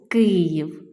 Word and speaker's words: Київ: останнє слово вам було Київ наголос два склади наголос падає на перший їй стоїть всередині після